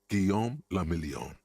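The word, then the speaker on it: Guillaume Le Million: Guillaume la Million. If it doesn't rhyme, you're not pronouncing it right.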